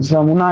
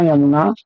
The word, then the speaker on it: यमुना: तो जमुना यमुना जैसे जैसे यमुना यमुना को बहुत लोग जमुना कहते हैं।